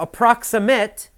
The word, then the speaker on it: approximate: Now, approximate is an adjective, and you have to listen carefully. The pronunciation is different for the verb and the adjective. As an adjective, you say approximate.